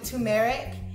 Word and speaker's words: turmeric: in your diet and some people pronounce it tumeric I used to say tumeric so I think it's